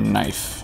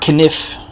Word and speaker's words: knife: What about a knife? I just need some rubber. Okay. Knife! Need my kniff. You know, he used to pronounce the K in those English words.